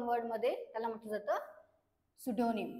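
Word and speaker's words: pseudonym: म्हटलं जातं one word मध्ये त्याला म्हटलं जातं सुडोनिम पी एस यडी ओ एन वाय एम सुडोनिम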